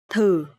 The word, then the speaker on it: thử: Okay, so here the letter TH, and you will pronounce th. Th. And here the tone mark is dấu hỏi, so it will be thử.